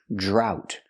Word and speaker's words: drought: jump, plus the R, drought. We see the OU making the OW sound like out and about, drought. And the T is a stop T, drought. And remember, GH together is silent.